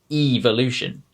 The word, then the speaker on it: evolution: in vowel sounds and this one is with the letter e like in the word evolution now in american english you'll hear that it's a short e sound e but when we say this in rp we extend the e sound like you're just saying the letter e so we would say evolution right let's listen to